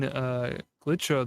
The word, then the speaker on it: Glitcho: All right, the L's silent. Man puts an L in his name and says, yeah, that L's silent.